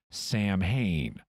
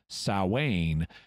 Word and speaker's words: Samhain: berkowitz and his group would think it was pronounced samhain incidentally in more recent interviews berkowitz uses the correct pronunciation sowwane and explains that they pronounced it samhain back then what's the second mistake samhain is